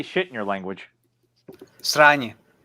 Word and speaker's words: sranje: Sranje. Sonya?